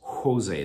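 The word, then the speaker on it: José: It's pronounced Jose. The J is like an H.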